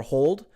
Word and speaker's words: HODL: So a lot of people pronounce this differently, but HODL or hold, HODL.